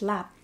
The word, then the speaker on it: larb: How's your larb? So good. You want some? Yeah. It's lap. But it does say it's... But it's spelled L-A-R-B.